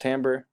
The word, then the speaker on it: timbre: is the word Tambor even though it looks like the word timbre it's pronounced Tambor and it's a word